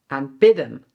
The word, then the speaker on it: aanbidden: The separable verb is “aanbieden" (to offer) and the inseparable verb is “aanbidden" (to worship/adore). So only one letter difference! "AANbieden" and "aanBIDDEN". Do you also hear the difference with the emphasis?